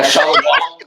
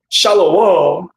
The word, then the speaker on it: shalom: Shalom. That's not even Hebrew, dude. Shalaw. No, it's shalom, you idiot.